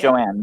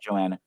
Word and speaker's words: Joanne: Joanne, not Joanna. Joanne, yeah.